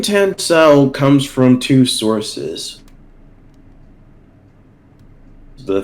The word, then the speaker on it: Tansau: your name come from and how do you pronounce it the name tencel comes from two sources the first source is